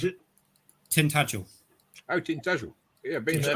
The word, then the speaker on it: Tintagel: Okay, this one is Tintangle. I think that's how you pronounce it. Tintagel.